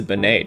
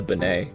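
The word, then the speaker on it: Bonet: i think uvia is probably pretty hard lisa benay too crossing bowie meaning harton was kind of tough i didn't know on a win tour there's an anna wintour i think it's on a wintour who's lisa benay wait is this um yeah the cosby show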